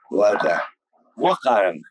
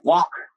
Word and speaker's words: Wakara: Their chief was Wakaran. Wakara. Yeah, the white man, he couldn't say Wakara, so he says Walker.